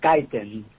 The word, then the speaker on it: Kaiten: K Kon I believe that's the way you pronounce the last name is that right yes it is kiten kiten excuse me um Juan Carlos is from